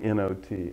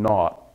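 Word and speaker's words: naught: am not saying not I'm not saying noot I'm saying not n u ght it's what the British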